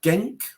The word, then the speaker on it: Genk: was playing for uh genk I think it's called pronounce gank b-e-n-k now gameplay they